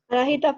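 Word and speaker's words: Anahita: Ahora, un poco interpretando lo que Ana, ¿me puedo decir Ana o Anaíta? ¿O lo pronuncio mal? Anajita, profe, pronunciando la H. Anajita. Ajá. Ok, pronuncio la H como una G.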